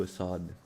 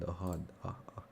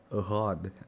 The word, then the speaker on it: Ahad: How are you, Assad or Ahad? How How do I pronounce? Not Assad. Ahad. Ahad. I'm sorry.